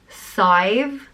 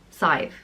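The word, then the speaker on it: Saidhbhe: sweetness and goodness and it's pronounced scythe like rhyming with five scythe again there are so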